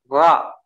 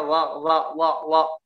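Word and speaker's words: ر: Ra, gitu ya, bacanya ra, tidak boleh bacanya wa, ya, dinempelkan, enggak, ya, di apa namanya, dingambangkan ra-nya ini, ya.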